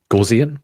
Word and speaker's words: Gaussian: how you say it gaussian that's how i prefer that that's how i pronounce it anyway it's like goss yeah yeah yeah uh